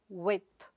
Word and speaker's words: width: Similarly, the noun form of that is width. You donít pronounce the /d/ sound there; it is silent.